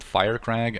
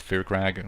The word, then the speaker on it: Firecrag: Anyway, they pronounce it Firecrag. I always pronounce it Fearcrag. Like, I don't know why this would be Firecrag. So, like, excuse my incorrect pronunciation. I probably, just because of, you know, the forces of habit, I am going to call him later on Fearcrag, probably. Which is, you know, technically incorrect, but excuse me on that, I guess.